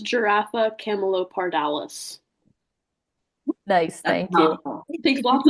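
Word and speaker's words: Giraffa camelopardalis: It is pronounced giraffa camalopardales.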